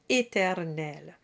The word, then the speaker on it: éternel: The word éternel begins with E, then you get 2 sounds in the middle, and the final sound at the end. Put it together and you have éternel, éternel, and that rhymes with belle.